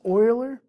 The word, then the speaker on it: Euler: i think i looked it up and it's pronounced euler so euler's number and it's represented by the